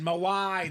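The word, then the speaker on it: Mawae: butcher his name Maui how do you say Maui Kevin maw maw that's it mawaii the Hall of Fame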